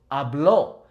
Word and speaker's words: habló: does have an accent, make sure that you're properly pronouncing that O. You're really emphasizing the O. So hablo, meaning I speak, or habló, meaning he spoke or she spoke.